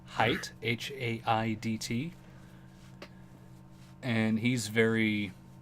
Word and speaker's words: Haidt: I think his last name is pronounced Haidt, Haidt, and he's very.